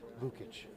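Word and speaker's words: Vukich: Vukic. Vukic? Vukic, that's pretty close. Let's spell it.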